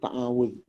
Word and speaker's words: ta'awudz: Ta'awudz. Namanya ta'awudz. Ta'awudz. Pakai zal.